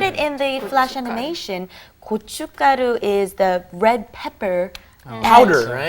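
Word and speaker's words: gochugaru: look at it it looks pretty hard to pronounce men kucik good you've got all good good kochu karu mm-hmm alright well keeping that in mind and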